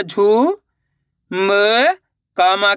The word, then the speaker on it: झुमका: देखो किस तरीके से झ में छोटू उ की मात्रा झू म क की मात्रा का तो मिलके बन जाएगा झुमका।